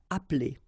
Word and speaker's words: appeler: Okay, same thing here, appeler, but then you get appeler, appeler, and then samedi.